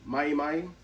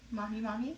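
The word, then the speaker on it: mahi-mahi: it was like how always say it wrong mayi mayi tuna mahi mahi yeah okay that's a tuna it was pretty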